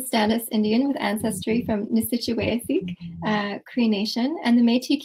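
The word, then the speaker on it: Nisichawayasihk: nation the situation yeah it's it's pronounced the sachawaya sikh where three rivers meet thank you um so albert mcleod is a status indian with ancestry from nisitchuwafeek cree nation and the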